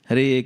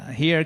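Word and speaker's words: Hare: You see, we also have to pronounce clearly. H Krishna. H Krishna Krishna Krishna. H not like here kitty kitty kitty kitty. Here kitty kitty. It's like you're calling a cat or something.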